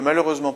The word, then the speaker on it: malheureusement: Sixième exemple, je ne peux malheureusement pas vous aider sur ce point. Malheureusement, on a une prononciation en aimant, donc une terminaison d'adverbe qui comporte un seul M.